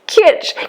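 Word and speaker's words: Kitsch: can't pronounce the name it's Kit k i t s c h it is clips that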